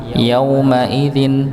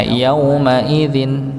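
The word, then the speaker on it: يومئذ: Yauma yaumaidin. Nah, gitu aja nggih. Maka tidak perlu dengan hentakan bukan tasydid nggih. Tapi dia sukun ya. Wujuhun yaumaidin ya. Yaumaidzin. Jadi bukan yaumaidin ya. Bukan seperti itu bacanya.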